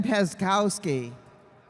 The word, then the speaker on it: Peskowski: Ben Peskowski. Peskowski, is that right? The C is silent.